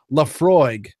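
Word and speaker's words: Laphroaig: But I settled on, I went over to the Scotch section and I saw this, I believe it's pronounced Lafroig, and they got their 10-year-old single malt.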